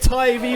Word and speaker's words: Tyvee: Okay, we're here with Tyvee Lee. That's it. It is pronounced Tyvee as well. I like it. Yeah, you got it right, man. It's not TV or TV.